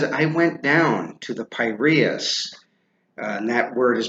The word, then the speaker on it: Piraeus: He says, I went down to the Piraeus, and that word is pronounced Piraeus, yesterday, with Glaucon, the son of Ariston, to